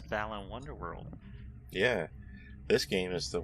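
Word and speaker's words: Balan Wonderworld: nobody can pronounce it everyone i've ever seen who try to pronounce it called it the land wonderland why isn't it called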